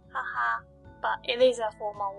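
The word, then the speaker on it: は: The next character is ha. When it's used in a word, it should be pronounced ha.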